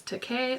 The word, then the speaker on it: Takei: And in the book, he says how to pronounce his last name. He says Takei like okay.